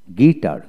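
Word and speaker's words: guitar: তারপর আসেন গিটার, গিটার, জি ইউ আই টি এ আর, গিটার, এখানে ইউ উচ্চারিত হবে না, জি আই গি টি এ আর, গিটার।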